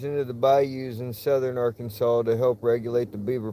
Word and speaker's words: Arkansas: R Kansas. Except it's not pronounced Kansas. It's Arkansas.